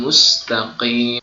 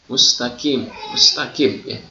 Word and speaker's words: mustaqim: ayat ihdinas siratal mustaqim, harusnya di situ adalah huruf qaf, huruf qaf, ihdinas siratal mustaqim. Tetapi ada sebagian orang yang membacanya dengan ihdinas siratal mustaqim. Jadi ketika kita membaca dengan kalimat ihdinas siratal mustaqim, maka berubah bentuk hurufnya dari qaf menjadi kaf.